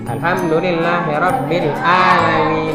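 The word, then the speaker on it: alhamdulillahirabbil alamin: sini sering sekali mendengar banyak orang membaca halani Alhamdulillahirobbil alamin itu salah yang betul Nyai huruf Rim jadi eh jadi bacanya alhamdulillahirobbilalamin bukan alamin ini bukan alhamdulillah tapi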